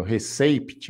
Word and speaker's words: receipt: p aí tá vendo receipt mas esse pé não é pronunciado se pronuncia Hit como